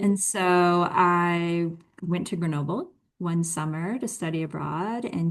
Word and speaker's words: Grenoble: Grenoble, Yeah, yeah.